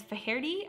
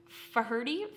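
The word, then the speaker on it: Faherty: definitely want to know Monclair number 29 is feri I'm so bad at pronouncing some of these but f a h e r t y feri feri this brand you're looking at jackets pullovers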